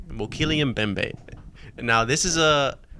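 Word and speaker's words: Mokele-mbembe: called the mokilian bembe i know how to say it and that's the correct name mokillian bembay and now this is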